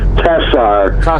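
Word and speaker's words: Tsar: your last name it's it's pronounced tessar t s a r and and you might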